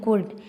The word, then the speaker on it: could: COULD, इसको हम पढ़ते हैं कुड। एल हमारा साइलेंट रहता है तो हम इसको क्या पढ़ेंगे, कुड।